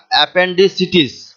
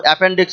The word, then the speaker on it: appendicitis: এখানে একটা জিনিস আমাদেরকে মনে রাখতে হয় যে এটা অ্যাপেন্ডিসিটিস, অনেকে আমরা ভুল করে শুধু অ্যাপেন্ডিক্স বলে ফেলি, অ্যাপেন্ডিক্স অপারেশন হয়েছে এই কথাটা বলি, কিন্তু এটা সঠিক শব্দ হচ্ছে বা উচ্চারণ হচ্ছে অ্যাপেন্ডিসিটিস, APPENDICITIS।